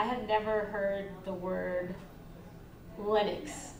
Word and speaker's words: Linux: It's Linux.